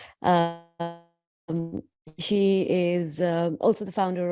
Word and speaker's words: Naama: So actually, my name, it has the namaste. So it's actually the way you pronounce it is Naama.